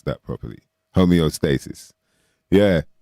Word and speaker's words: homeostasis: Shout out to Dawn and David, especially for letting me know how to pronounce that properly. Homeostasis.